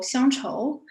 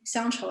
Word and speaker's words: 鄉綢: actually the chinese title sancho it literally means silks from town or hometown but if you read in the chinese mandarin the pronunciation is the same sancho is the same as nostalgia in chinese so there's like the